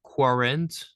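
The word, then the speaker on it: quarante: Here, the Q and U in French is always pronounced as the letter K. So just a K.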